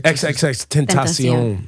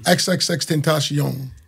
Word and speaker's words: XXXTentacion: XXXTentacion. XXXTentacion.